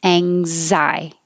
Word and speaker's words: anxiety: So ang, like you're going to say angle, but don't release the G. Ang, and hold it, anxiety.